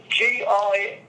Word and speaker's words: Gilzean: Gilzine, Gilzean.